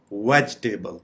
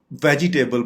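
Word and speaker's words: vegetable: part आप pronounce करेंगे वेजिटेबल इसको हम वेजिटेबल बोलते हैं वेजिटेबल जो कि बिल्कुल गलत प्रोनंसिएशन है यानी इसकी दुरुस्त प्रोनंसिएशन है वेजटेबल वेजटेबल ककं इसका मतलब है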